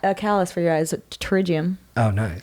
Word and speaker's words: pterygium: callous for your eyes pterygium oh nice but it's spelt like potato oh it's kind of like a pterodactyl kind of thing yeah that's cool yeah was